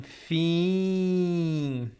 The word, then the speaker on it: fim: So always you see this E-I-M or E-I-N, we are going to pronounce as the same idea as sim. So, for example, the examples. Sim, sim, sim, fim, fim, sim, fim. I think this is the